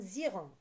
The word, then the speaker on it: ils iront: Et on fait la liaison, ça donne ziront.